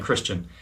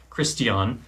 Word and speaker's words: Christiaan: I've been saying Christian. Christiaan.